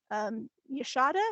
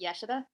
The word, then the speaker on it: Yashida: Yashada, is that how you say it? It's pronounced Yashida.